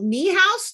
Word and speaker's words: Niehaus: Today we are talking to Niehaus. Did I pronounce that right?